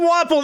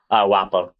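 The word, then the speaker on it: Wapol: Like, his name is pronounced Wapple. Think like waffle. Wappo.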